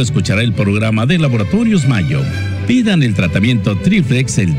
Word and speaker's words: Mallo: Mayo se escribe como gallo, LLO, Laboratorios Mayo.